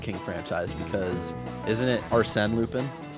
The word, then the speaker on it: Arsène: But, funny that you bring up Lupin the Third King franchise, because isn't it Arsène Lupin?